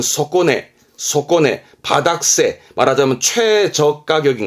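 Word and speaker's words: 底値: 그래서 이제 바닥의 값어치니까 바닥 시세, 발음은 소꼬네, 바닥세, 말하자면 최저가격인 거, 최저가격.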